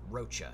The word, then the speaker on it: Rocha: On your last video, you ask how you pronounce my name. Name is Rocha, C-H Mac. Juan F. Rocha.